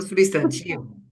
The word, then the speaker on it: substantivo: beleza no substantivo no substantivo Vejam a sílaba tônica é o ti então a gente sabe